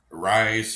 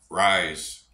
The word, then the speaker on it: Ryse: what's up YouTube family apparently I've been pronouncing these wrong I guess these are rise feel energy drink not fuel energy drink rise fuel energy drink uh today we got ring